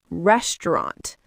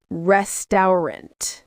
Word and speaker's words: restaurant: Words we use all the time like restaurant. Say restaurant or restaurant. Not restant.